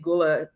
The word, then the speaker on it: Gullah: American friends and I I feel like she pronounced it differently. Gulla or something and I and I and I'm always be saying gula. So we we say gula in Okay, that's what it is.